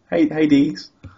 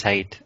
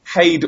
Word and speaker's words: Heide: No, I think it is Heide. I'm sure I remember somebody on Twitter once complaining that it was being mispronounced. I think Heide or Hyde are both acceptable.